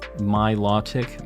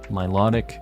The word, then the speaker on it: Milotic: help me is that my law tick my law tick I'm assuming that's how you say that law yeah low or law is basically the the difference